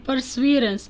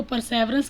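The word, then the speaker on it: perseverance: की ingenuity जहानत, एंड परसवीरेंस, बहुत सारे लोग इसको परसेवरेंस कहते हैं, करेक्ट प्रोनाउंसिएशन इज़ परसवीरेंस, यानी मुस्तकिल मिजाजी और लगातार किसी काम को करते रहना।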